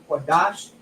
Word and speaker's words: Qadash: It's still pronounced Lashawan. We have a Kwa, a Da, and a Sha, Qadash.